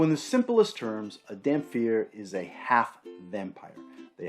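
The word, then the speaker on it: dhampir: sometimes they're called dampier i've always heard them pronounced as damn fear with a ph and like so many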